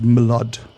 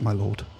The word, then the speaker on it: milord: I believe it's pronounced Milord, but that's fine. I'll accept my lord.